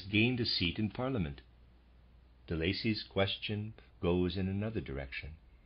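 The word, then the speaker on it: Delaisi: I'm pronouncing that De Lacy. It's spelled D-E-L-A-I-S-I, readers aside.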